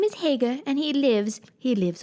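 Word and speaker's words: Haigha: happy his name is Hager he pronounced it so as to rhyme with mayor I love my love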